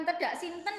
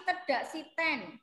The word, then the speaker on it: tedak siten: reg-online ubun-ubun nge-review enggak bacanya bukan peda simpen ya tapi tedak siten gitu ya bukan nggak